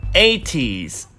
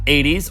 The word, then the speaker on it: ATEEZ: Next one, it's ATEEZ, not 80s or ATEEZ or ATEEZ. Don't be teasing.